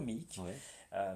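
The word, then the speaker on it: Meak: Donc aujourd'hui ça s'écrit M-E-A-K. D'accord. Ça se prononce toujours Mick, mais littéralement ça ne veut plus rien dire, je crois.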